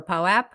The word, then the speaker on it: POAP: I'll just say I'm really happy we're in the POAP era where we no longer have to ask if it's pronounced Pope or POAP. Yeah, it's POAP.